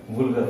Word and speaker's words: vulgar: तो सबसे पहली बात तो ये है कि ये इसको वुल्गर फ्रैक्शन कहा जाता है। वल्गर फ्रैक्शन नहीं बोलते इसको बोलते हैं वुल्गर फ्रैक्शन।